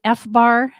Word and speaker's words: FBAR: my fees right right wow uh is it fbar is that how I pronounce it F Bar yes that's an acronym